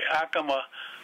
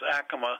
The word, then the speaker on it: Acoma: If you go to New Mexico, to the Acoma Pueblo, down there they pronounce Acoma. Here we pronounce it Acoma.